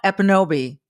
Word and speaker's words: Ekpunobi: Amala Ekpunobi. Don't pronounce the K, folks. You'll see it there, but it's silent.